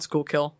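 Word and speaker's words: Schuylkill: kill here like yeah it's proun School kill like so I get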